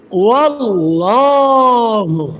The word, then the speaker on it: আল্লাহ: এই আল্লাহ শব্দটাকে মোটা করে পড়তে হবে। পুর করে পড়তে হবে। মুখটাকে ভরে আপনার মুখটাকে ভরে আপনি উচ্চারণ করবেন। এভাবে খুব খেয়াল করার চেষ্টা করি। আল্লাহু দেখুন আমি কিন্তু মুখটাকে পুরা ভরে পুরা মুখ থেকে আওয়াজটা আমি বের করেছি।